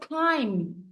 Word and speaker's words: climb: my back if you climb be silent cation this is just climb if you climb on